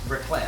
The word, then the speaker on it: raclette: Raclette.